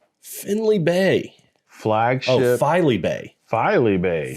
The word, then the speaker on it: Filey Bay: Bay Flagship filey Bay filey Bay Finley sorry we were putting an in in there we are FY filey I was mispronouncing it we were naming a